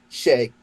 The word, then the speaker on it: Xiao: It's actually more of an A sound. Xiao. Xiao. Yeah. Okay. So like Xiao, but Shay.